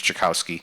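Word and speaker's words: Czajkowski: writer James Rollins the Thriller writer and James jakowski that's how you pronounce it the the veterinarian so schizophrenia sort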